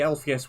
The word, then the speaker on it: Alpheus: When we arrived, the Alpheus was already ravaged.